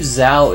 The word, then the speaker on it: Zhao: Would you believe Zhao is pronounced more like Joe?